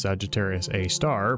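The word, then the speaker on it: Sagittarius A*: up Google images of Sagittarius a asterisk, which is usually pronounced Sagittarius A star, but you wouldn't know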